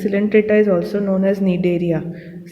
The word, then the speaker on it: Cnidaria: This Coelenterata is also known as Cnidaria. C is silent.